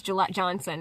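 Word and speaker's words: Jillette Johnson: so the opener was Gillette Johnson and so she opened it by saying my name is like the razor the best a man can get but with a J yeah I think I'm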